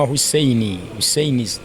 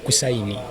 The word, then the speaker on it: Hussein: olina n'amalala ojja kusanga yampita Hussein kubanga kitange nazigenda okutegeera nga yantuuma Hussein kakati abamu baliyita Kusaini kisinzira waje wakuli oba pronunciation y'ojimanyi akati nga ate bwe